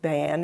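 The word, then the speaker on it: Bain: a man named Louie ban we pronounce it ban it's spelled b a i n and he came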